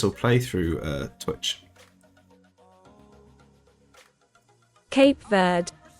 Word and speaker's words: Cape Verde: Cape Verde. Cape Verde. There you go. The British pronunciation is Cape Verde.